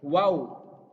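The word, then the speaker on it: و: Harus diucapkan secara jelas. Wow. Ininya mulutnya lebih mengecil ya. Wow.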